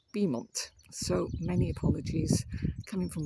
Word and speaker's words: Beaumont: The information board, which has just informed me the village is not pronounced Beaumont, it's pronounced Beaumont.